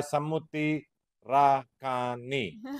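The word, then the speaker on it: Samuthirakani: It's a Telugu movie starring Pawan Kalyan, Sai Tej, and directed by Samuti Rakani. That's how you say the name.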